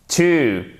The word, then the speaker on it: too: To, avec un ou long.